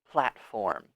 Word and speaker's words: platform: So let's focus on pronunciation here. Platform. That one could be a little tricky. There's only 2 syllables.